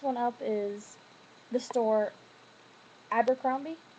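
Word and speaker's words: Abercrombie: hate that store but people call it Amber cromie I think that's funny cuz they claim love the store so much they can't even pronounce it right um people who say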